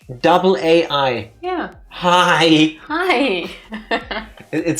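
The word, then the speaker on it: Hai: just individual words like shark in German it's hi hi not like high but High h a i same in Dutch but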